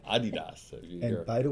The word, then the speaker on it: Adidas: been saying it correctly Adidas is how we've I grew up saying it then I I came over here and it's actually Adidas if you and by